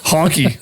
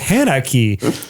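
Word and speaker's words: Hankki: Honky. Sounds so I am. great. Sounds Love like it. that. Yeah. Here I am in my head, just like phonetically going. It's like Hanaki.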